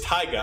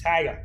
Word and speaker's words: taiga: I saw this and I was like, I'm pretty sure it's like Taiga, but that's not how that's spelled. No, it's Taiga. I did the you play it for me Google thing. Yeah. It goes Taiga.